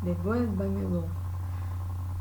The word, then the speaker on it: devuélvamelo: E aí temos como exemplo a palavra devuélvamelo. Percebam que a sílaba tônica é a antepenúltima, anterior à antepenúltima, certo?